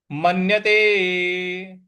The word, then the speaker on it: मन्यते: म इसके बाद है मन्यते मन्यते यहां म आधा न है उस पे हम आघात देंगे मन्यते नाधिकन नाधिकन यहां